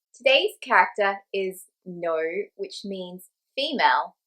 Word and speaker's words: 女: The formal correct pronunciation of no has the N sound. However, when you're talking to people day to day, you're more likely to hear them say lo.